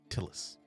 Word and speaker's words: Tillis: Tillis. Tillis. Till-is. Till, like the till of a cash register.